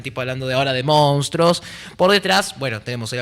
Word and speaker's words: monstruo: Pero dice monstruo. ¿Sabes qué lindo en tu familia cuando vos digas esto es un monstruo? ¿Qué te pasó? Dijiste monstruo.